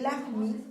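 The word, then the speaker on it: Lajmi: Y fíjate que Lahmi, este gigante, se escribe L-A-J-M-I, Lahmi.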